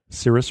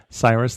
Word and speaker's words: Cyrus: And so we are rebuilding this temple who your previous emperor Cirrus or Cyrus and I know I pronounced this inconsistently Cyrus let's say this week sent us